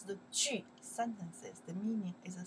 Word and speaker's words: 句: We pronounce the 句 sentences.